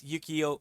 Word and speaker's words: Yuukio: My name is Yuukio, pronounced Yu-Gi-Oh, but with a K.